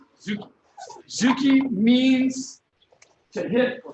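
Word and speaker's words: tsuki: The T is silent. So you just say Zuki. Zuki. Zuki.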